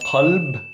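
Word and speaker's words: قلب: So these, qalb is heart, qareeb, close, qal, he said. Pronunciation-wise, this is not a K.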